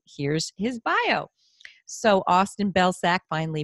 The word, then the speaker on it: Belcak: So Austin Belcak, finally pronounced that correctly, right?